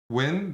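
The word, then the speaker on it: Nguyen: do you pronounce this how do i say this name win that's the vietnamese i'm serious these are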